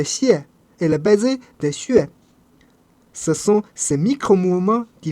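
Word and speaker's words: xué: C'est de cette position unique qui jaillit le son U immédiatement suivi de la glissade vers le E notre fameux E.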